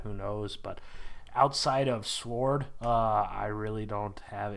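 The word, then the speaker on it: S.W.O.R.D.: it SW sword sword sword yeah I don't I don't pronounce the W at all but I don't know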